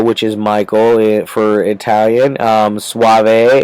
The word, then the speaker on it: Soavi: Soavi is Soavi, it's Soabi, Soavi, I think is how you pronounce it. I could be very wrong. I've heard lots of different pronunciations on that one. I've heard someone say Soavier and Sovier and things like that. So I'm not 100% on that one. I'm going with Soavi.